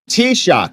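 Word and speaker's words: Taoiseach: what that looked like t-shock is how you say it thank you Aus fod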